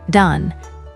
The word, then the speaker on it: 男: The anomi is don. This sound screams group structure and hierarchy. Think dansshi for young men or don for adult males.